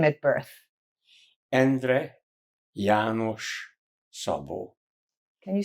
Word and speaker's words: Szabo: Sabo.